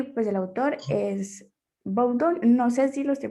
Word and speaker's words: Boudon: Cuando no sepan pronunciar la palabra en el idioma original, es válido españolizarla, es decir, decirla como suena en español. En este caso sería boudón. ujú, bueno, Bowden.